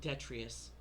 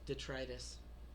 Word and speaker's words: detritus: I spent 30 my years of my life thinking it was pronounced detritus. Imagine my surprise at 40 to learn that it was actually pronounced detritus.